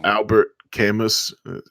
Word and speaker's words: Albert Camus: Albert Camus it's called Albert Camus so but it's French so it's pronounced out there Camus is